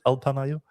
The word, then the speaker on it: Alpamayo: Alpamayo? I guess so. It's like alpaca and mayonnaise together.